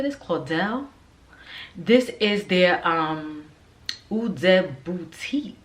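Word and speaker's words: Caudalie: the Claudel this is how you say this Claudel this is their um Boutique this is their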